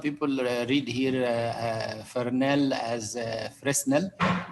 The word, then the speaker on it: Fresnel: By the way, some people read here Fresnel as Fresnel. The S is silent, it's not pronounced.